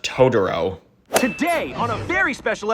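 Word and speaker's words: Totoro: bus from my neighbor tuturo why are you pronouncing his name like that it's pronounced todoro today on a very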